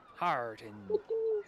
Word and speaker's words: Heartden: Hardin is spelled Heartden. Heartin. The D is silent. Harden.